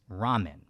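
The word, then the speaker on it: ラーメン: start of this video lamen pronounced in Japanese of course as Ramen anyway given the direct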